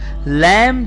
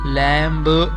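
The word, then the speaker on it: lamb: अच्छा, लैम में बच्चों बी साइलेंट है, ये ध्यान रहेगा। लैम्ब ऐसा नहीं पढ़ते हैं, उसे सिर्फ मो तक आवाज आएगी, लैम।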